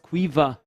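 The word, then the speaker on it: Caoimhe: I just heard that her name is pronounced Quiva.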